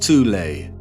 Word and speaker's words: Thule: called the soul society sometimes alternatively pronounced tulay that had sub-factions within